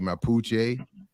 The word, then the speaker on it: Mapuche: I'm saying that the the name the the pronouncing the name properly mapuche yeah yeah and we're talking about this group